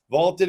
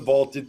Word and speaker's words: VLTED: a try for free vaulted is spelled v LTE D it's the app to challenge your friends store your predictions and join daily cash prize pools without any entry fee download vaulted today all right Tyler